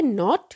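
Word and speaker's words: knot: but meaning अलग है ये है नॉट केनो टी यहां पर नोट यह देखिए नोट नोट यहां पर के साइलेंट है ये है तेल इसका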